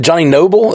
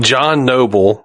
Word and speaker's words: John Noble: I was wondering, Johnny Noble? Is that how you say his name? John Noble.